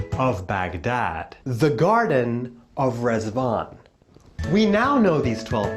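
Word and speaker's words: Riḍván: to wish you a happy Festival of rvon rvon is pronounced reson and in Arabic the word means Paradise the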